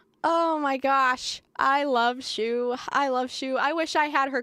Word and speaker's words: Shoe: Shoe rhymes with Lou, just saying.